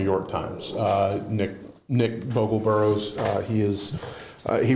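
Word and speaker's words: Bogel-Burroughs: Uh Nick Nick Bogle Burroughs uh he is uh he was the southeastern region reporter for the New York Times. How do you pronounce his last name? Bogle Burroughs.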